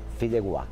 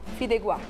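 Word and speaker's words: fideuà: Deixa eu falar a pronúncia correta, como é que é? Fideuá. Fideuá.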